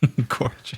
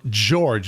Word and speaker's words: George: g o be Gorge Gorge but it's G EO so George because you have an e that uh makes it softer okay actually people want